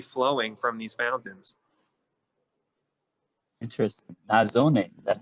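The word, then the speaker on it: nasone: Nazone, is that how you say it? Yeah, one nazzone, two nazzoni.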